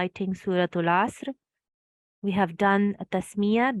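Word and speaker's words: عصر: I hear people say asr, but there's no fatha here on top of the sad. There's no mushaddad sad. So it's not like that. You have to make it one sound. Asr, one syllable.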